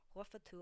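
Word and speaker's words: غرفة: The first word of an iDaafa always ends in a dhamma, and the tar marbuta will be pronounced as a ta, making it ghurfatu instead of just ghurfa. Take a minute and think of words you know.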